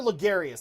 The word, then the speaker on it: Logarius: and then we killed carter martyr aguero martyr lagarius that's how you say it okay location forsaken